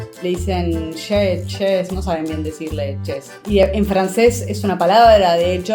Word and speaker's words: Chez: in sentences but well it's pronounced che and then the other